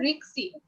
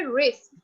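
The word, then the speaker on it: risk: তারপর হচ্ছে রিস্ক, বেশিরভাগ মানুষ কিন্তু বলে দিস ইজ রিক্সি বা রিক্স, রিক্স কিন্তু হবে না, প্রোনাউন্সিয়েশনটা হবে রিস্ক।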